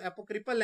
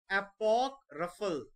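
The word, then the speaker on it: apocryphal: है, लेकिन बोलते तो एपोक्रिपल है। इसका करेक्ट प्रोनाउंसिएशन वैसे है एपोक्रफल, एपोक्रफल, एपोक्रफल।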